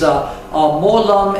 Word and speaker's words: Mo Lum: And for our general viewers, Molum is the Cantonese pronunciation of Wu Lin.